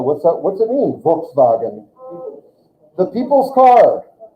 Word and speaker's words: Volkswagen: V makes an F sound. Volks. Say it again. Volkswagen. That's the way Germans say this. We say Volkswagen, but Germans say Volkswagen.